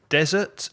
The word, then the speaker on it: desert: And in deserts, that's the desert with one S, the desert with a stress on the first syllable, you sometimes find dunes,